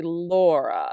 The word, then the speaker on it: Laura: it my name is Laura so my name is two syllables but they're not I ambach because you say Laura and it goes heavy soft instead of soft heavy on my list if